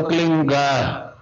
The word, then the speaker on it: क्लीं: एक शब्द क्लींग शब्द, क्या आधा लय में मिला हुआ, बड़ी की मात्रा और बिंदी, उसका उच्चारण होगा क्लींग। गा की ध्वनि निकलेगी पीछे।